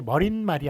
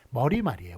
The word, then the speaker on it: 머리말: 머리 말이 맞나요 예 이거는 발음이 머린 말이 아니라 머리 말이에요 머리말 꼬리 말도 마찬가지예요 서론 결론에 해당하는 머리말 꼬리말 요렇게 발음을 합니다 예 그렇기 때문에 머리말